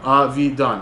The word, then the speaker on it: Avidan: that has a syllable my name avidan ah v don that's three syllables or whatever so in